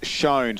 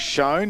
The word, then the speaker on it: Shown: It's Shown, so let's go with that. It is Shown. I was told it's like phone, but with an S.